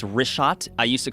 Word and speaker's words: Richat: in the first couple uh I just want to say it's Rishot. I used to call it Rickot. I was m mispronouncing it.